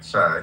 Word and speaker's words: Shah: Did I pronounce it correctly? S-H-A-I? Shah, yes.